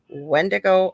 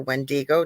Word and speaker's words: wendigo: then we get to wendo or wendigo depending how you say it known to the